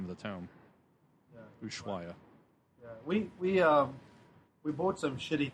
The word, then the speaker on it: Ushuaia: Ushuaia.